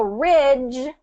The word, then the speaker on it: ridge: So if ridge and ridge if people are kind of confusing the two what can we can we can realize okay if it if you're trying to say ridge but you're they're hearing rich it's because the voice is not on.